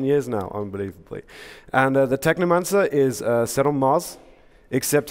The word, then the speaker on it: Technomancer: The Technomancer, right? It rhymes with my favorite book, Necromancers, or Neuromancer, Technomancer.